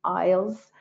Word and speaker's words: isles: ielts i-s-l-e-s isles so if you should ever see isles that is the abbreviation of islands and again the s is considered to be silent okay historical landmarks please